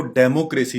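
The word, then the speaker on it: democracy: आम तौर पर इसको डेमोक्रेसी कहा जाता है, जो कि इंतहाई गलत प्रोनाउंसिएशन है। इसकी करेक्ट प्रोनाउंसिएशन है डेमोक्रेसी। डेमोक्रेसी।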